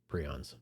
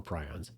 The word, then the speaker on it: prions: You can go back and listen to it, where I talked about prions or prions. You can actually pronounce it both ways, I guess.